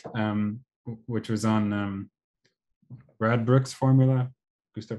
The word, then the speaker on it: Radbruch: Um which was on um Radbruch's formula. Gustav Radbruch. I'm not sure that I pronounce it correctly.